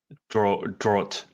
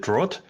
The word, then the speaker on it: Dragt: How do I pronounce your surname? Oh, it's a Dragt, like draw with a T at the end. Draught. Is it Draught?